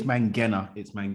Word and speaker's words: Mangena: It's Mangena. Mangena. But you know what? I have to say, John, that I can't really get mad with anyone for mispronouncing it, because the E after the G makes you think it should be a soft G, but it's actually it doesn't change.